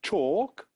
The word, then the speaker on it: talk: it is not pronounced in talk the letter L is written but not pronounced and in listen